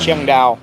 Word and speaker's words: Chiang Dao: Chiang Dao.